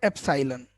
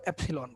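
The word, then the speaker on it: epsilon: तो अब ये आपके प्रोनाउंसिएशन पे डिपेंड कर रहा है, या तो आप इसको एप्साइलन बोलो या फिर इसको एप्सिलॉन बोलो, ये डिपेंड करता है। मैं एप्साइलन भी बोल लेता हूँ, एप्सिलॉन भी बोल लेता हूँ, ये आपकी चॉइस है, मैं कुछ नहीं बोलूंगा।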